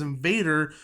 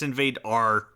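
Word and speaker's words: InvadR: opening up April 7th I think you pronounced wrong I think it's invade our is it invade our yeah yeah because they don't believe in ease I guess in Viking culture they have like a two vowel limit so it's engine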